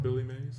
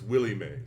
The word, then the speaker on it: Willie Mae: these people don't realize is it Billy Ma I thought it that guy no that yeah that's a different person one second oh well okay well I was pronouncing it right it's Willie Mae yes yeah it's Willy